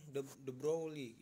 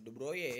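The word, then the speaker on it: de Broglie: foton nah nah kemudian the brolic nih the brolik apa the broye ya dibacanya ya dia berhipotesis e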